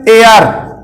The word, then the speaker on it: heir: तो ये पढ़ा जाएगा, एच साइलेंट है, AR।